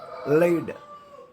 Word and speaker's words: lead: a symbol for mercury lead don't read as lead because lead is a same leading you know no leading qualities are later from that that is pronunciation not lead that is lead here lead it's an element plumbum